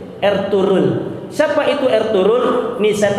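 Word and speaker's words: Ertuğrul: juga ada film namanya dirilis ertugrul atau Bacanya adalah dirilis er turun Siapa itu Er turun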